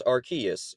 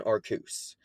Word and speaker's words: Arceus: name before for example I pronounce Rus as Rus but others pronounce it as archus or even arus but it doesn't matter